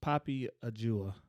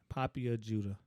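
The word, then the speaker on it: Poppy Ajudha: And I'm talking about a lady named Poppy Ajua. Ajuda, excuse me. How you spell that? It is POPPYAJUDHA. Poppy Ajuda.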